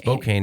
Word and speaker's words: Spokane: Spokane is how you say it.